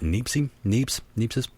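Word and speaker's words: Niépce: And the first known photograph, by most people's standards, is the 1826 photo from Joseph, I believe you pronounce it Niepce, Joseph Niepce, window in France.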